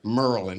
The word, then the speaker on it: Maryland: Merlin.